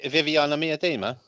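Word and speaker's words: Vivianne Miedema: Viviana Miedema.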